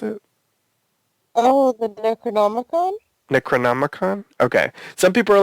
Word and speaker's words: Necronomicon: I read um I didn't know this one necron is that how you pronounced it oh the Necronomicon Necronomicon okay some people are like maybe it's